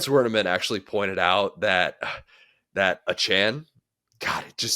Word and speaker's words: Achane: I don't care if people are calling my name wrong. It's cool. It's Achane, yeah, Achane.